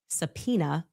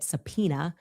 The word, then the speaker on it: Sapena: Her father, a man named Sapena, spelled phonetically just as I'm saying it, Sapena, a man named